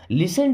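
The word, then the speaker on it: listen: लिसन टू मी, यहाँ पे T silent होता है ना, लिसन मीन्स सुनो, टू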